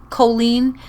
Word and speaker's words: Colleen: But when Americans say Colleen, to me it sounds like an anal cleanse.